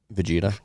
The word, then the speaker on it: Vegeta: Vegeta.